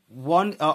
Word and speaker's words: one: And one is written as W-O-N, one.